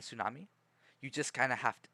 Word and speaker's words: tsunami: out most of it the t is silent in tsunami yeah t silent tsunami you just kind of